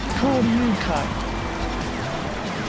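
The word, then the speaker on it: 交流会: But this is Ryu. It's pronounced as Ryu. Koryukai. Koryukai. Like 3 kanji at the end. Koryukai. So it's pronounced differently. Because when I was looking at that at first, I said Naga, didn't I, rather than Ryu?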